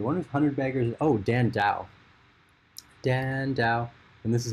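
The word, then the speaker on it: Dhandho: the other day one was hundred beggars oh dan dao dan dao and this is how you spell it because i've seen a few of you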